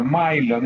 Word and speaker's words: Millon: el milon el millon porque se escribe millon no se pronuncia milon el milon es una